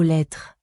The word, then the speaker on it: lettres: Boîte aux lettres. Boîte aux lettres. Even the E is almost not pronounced. It's like lettre. Lettre. Lettres. Yeah, it kind of ends on the R, to be honest.